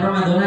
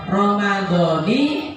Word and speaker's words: Ramadhani: Nawaitu shauma ghadin an adai fardhi syahri Ramadhani, bukan Ramadhana ya, Ramadhani hadhihi sanati lillahi ta'ala.